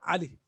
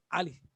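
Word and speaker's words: علي: In Arabic, it's A. You say Ali, not Ali. It is Ali.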